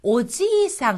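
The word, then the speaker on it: おじいさん: 여기에서는 지금 장음이 나왔잖아요 가령 예를 들어서 오지상 하고 길게 발음을 하면은 할아버지입니다 근데 여기에지 부분을 짧게 발음해서 오지상 오지상이라고 하면은 할아버지란 뜻이 아니라요 아저씨의 뜻이 됩니다 즉 아저씨가 오래 살아서 오지상 오지상 길어지면 할아버지가 된다고 하는 거죠 아시겠습니까 그래서 일본어에서는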